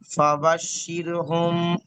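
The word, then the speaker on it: فَبَشِّرْهُم: হ্যাঁ, এখানে মিম সাকিনের পরে বা এসেছে, তাই মিমকে মানে এক আলিফ পরিমাণ গুণনা করে করতে হবে। উচ্চারণটা বলছি, ফাবাশশিরহুম, ফাবাশশিরহুম বিআযাবিন।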